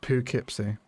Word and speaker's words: Poughkeepsie: It's pronounced Poughkeepsie, says Baked Ziti.